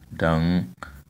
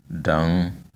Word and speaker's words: dang: Okay, this is an additional word, which means which is pronounced dang. You see, the tone is on the last sound, dang. The first one is has low tone, so we say dang.